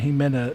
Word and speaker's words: Ximena: so if you guys are trying to find he Min a that's x i m a m e oh